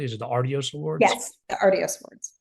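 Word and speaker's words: Artios: since 1985 with the Aros Awards am I pronouncing that correctly is it the arios awards yes the arios awards now there are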